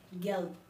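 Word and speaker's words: gelb: Next yellow, yellow को हम German में कहते हैं गेल्ब, जी ई एल बी गेल्ब।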